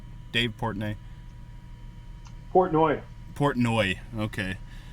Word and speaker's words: Portnoy: do you say his last name is it portney dave portney portnoy portnoy okay like every everything barcelo does is